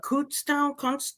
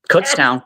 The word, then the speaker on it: Kutztown: Yeah, And he went to Cootstown. yep, I Kutztown.